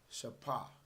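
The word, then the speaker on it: שפה: In the ancient Paleo Hebrew, lips will be pronounced as shapa.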